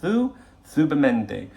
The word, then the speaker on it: Zubimendi: It's quite interesting hearing, even people like Romano pronouncing it Zubimendi, and maybe we should as English people. But in the cafe I go to, every Spanish person said, and the fellas are all saying Zubimendi.